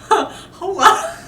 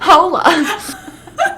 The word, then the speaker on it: hola: That is that's the one silent letter in Spanish. The H is the only silent letter.